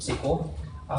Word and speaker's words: CQL: CQL which is the Cassandra Cassandra query language pronounced sequel which it's somewhat ironic but it is sequel